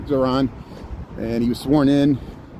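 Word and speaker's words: Zohran: I got to say his name right, Zoran.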